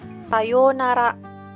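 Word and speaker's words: さようなら: kita gunakan untuk perpisahan Sayonara Sayonara itu artinya sampai jumpa ingat di sini ada Oh yang saya isi tanda seperti ini dibaca panjang Sayonara Sayonara Hai ini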